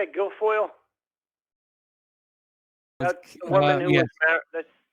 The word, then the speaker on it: Guilfoyle: Guilfoyle.